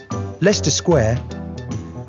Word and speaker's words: Leicester Square: with our great river is the thames greenwich leicester square borough one of the best ways to really